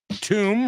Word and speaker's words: tomb: clothes I love it tomb rhymes with broom gloom and doom I had to add